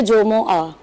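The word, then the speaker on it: जुमुआ: चाहिए, तो ये है जोमोआ। जीम पर भी पेश है और मीम पर भी पेश है।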